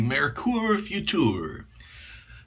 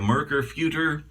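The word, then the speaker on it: Merkur Futur: be shaving with this the Mercure few tour yes that's the proper pronunciation or a marker future it's up to you the marker is a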